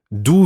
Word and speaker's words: d'où: d'où viens-tu?